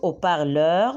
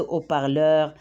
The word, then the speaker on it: haut-parleur: But this time we're gonna use, on va utiliser so, parce que le H ici est H aspiré. We pronounce it, it's exception. On va utiliser so, euro, hero, c'est haut-parleur, mic.